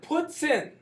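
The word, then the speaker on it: poutine: it's called it's called puts in all right that's that's pretty much you said it you the the pronunciation is pretty much spoton uh spelled a little more French and different but uh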